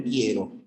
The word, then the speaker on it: quiero: te olvides de que la u no suena en quiero O sea no hay